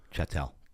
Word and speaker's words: chattel: Chatel, just like cattle.